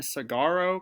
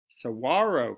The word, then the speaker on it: saguaro: drizzle hole in a cigaro cactus saguaro cactus sorry this g is silent and i know that